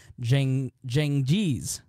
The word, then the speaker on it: Cengiz: marry his Turkish fiancée, Hatice Seng, there's a pronouncer, Cengiz.